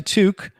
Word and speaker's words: toque: going to talk about torque, are you?" You're going to I go, "There's no R in there." He's like, "Yeah, there is. There is." I go, "It's toque."